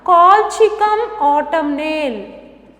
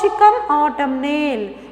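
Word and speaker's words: Colchicum autumnale: can write next one call chica autumn nail so write down clearly the spelling very clearly you can have a pronunciation called chicken autumn nail it's commonly called as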